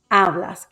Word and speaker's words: hablas: here's the first one hablas follows rule number two it is a palabra jana it ends in a vowel and the stress falls on the second to last syllable hablas that first a here's the next